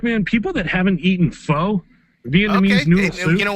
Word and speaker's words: Pho: Pho. Yeah, man, Vietnamese noodle soup. It's spelled PHO, so you'd think it's called pho, but it's called pho.